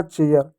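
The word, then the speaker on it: chair: जैसे सी एच का क्या हो गया, च हो गया, ए आई के बाद आर है तो ए की मात्रा प्लस ये लगा दो, आर का र कर दो, हो जाएगा चेयर।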